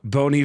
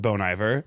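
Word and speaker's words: Bon Iver: 2012 where I went actually it's pronounced bony there it's a play on a French word for good winter I don't know if you know that or not but it's actually bony it's bony fa 303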